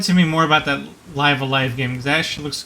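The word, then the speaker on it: Live A Live: I actually encountered somebody that encountered the ROM and pronounced it Live Evil because that's how the logo looked to him, and like, no, it's supposed to be Live Alive.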